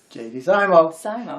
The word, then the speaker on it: JD Simo: say it if i say his name correctly jd zymo and you are correct yes jd simo is